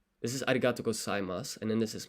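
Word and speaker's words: ありがとうございます: Skip the U there also at the end when it comes to pronunciation. ありがとうございます.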